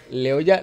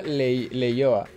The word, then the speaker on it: Leioa: Leoya, Leioa. De hecho, la pronuncia es exactamente la misma.